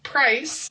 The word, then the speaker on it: price: So, for example, and this happens in a lot of languages, the C in price, it makes an S sound, right?